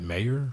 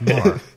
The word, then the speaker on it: Maher: Yeah, I always like to add syllables to his last name. Like, is that Mayer? Meyer? Maher? But it's just Maher.